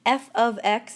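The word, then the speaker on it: f(x): notation that we learned quite a while ago f of X is how it's pronounced f of X and f of x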